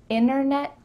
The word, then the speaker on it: internet: does this sound familiar Internet winner yeah we're cutting out that T especially when there's an N T in the middle of a word internet internet winter winner